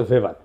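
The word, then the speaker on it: Weber: আর একজন দার্শনিক আছে ম্যাক্স ভেবার, এটা ওয়েবার বলে অনেকে, এটা উচ্চারণ আসলে ভেবার।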